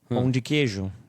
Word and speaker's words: pão de queijo: Pão de queijo.